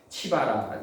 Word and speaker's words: 시바: 시바는 뭐냐면 그 치바라고 그래가지고 농장 연한 가지 치바라. 시바가 아니라 치바입니다. 원래 발음이.